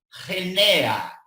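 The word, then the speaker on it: γενεά: Y la palabra es la palabra griega genea. Con G, no sé cómo se pronuncia en español, con Genea.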